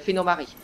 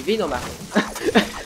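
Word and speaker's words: Venomari: Et ah mon dieu, Aciditus, Aciditus, le chef des Phénomaries. Ok. Des Phénomaries, ça s'appelle des Vénomaries. Je prononce à la façon allemande.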